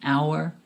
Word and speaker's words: hour: An apple, an egg, an orange, an hour. The letter H in this word is silent, so it sounds like it starts with a vowel.